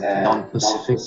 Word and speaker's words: non-specific: The specific defense and non-specific defense. Specific. Những dòng hai nha. Specific. Second syllable. Specific. Non-specific defense. None. Not non.